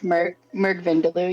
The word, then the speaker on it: Murg Vindaloo: I don't know how to pronounce that. Murg Vindaloo. It's Murg Vindaloo.